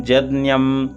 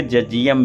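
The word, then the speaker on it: यज्ञम्: यजुर्वेद में जज्ञम बोलते करते हैं, प्रचलन में है, तो इसको जो है तो परंपरागत जज्ञम या जजियम भी बहुत लोग बोलते हैं, या जगियम भी बोलते हैं, तो अलग अलग परंपरा है।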